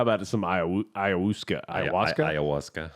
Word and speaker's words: ayahuasca: Ayahuasca. Is it ayahuasca? Ayahuasca. That's how you pronounce it.